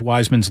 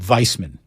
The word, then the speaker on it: Wiseman: ask you a question how come you always pronounce James wiseman's last name as if you were a German prison guard I believe that's how he pronounces it it's Wiseman I don't think Ben Wiseman since the day was drafted everyone in the world says wise men including him why do you call him Weissman they'll call him viceman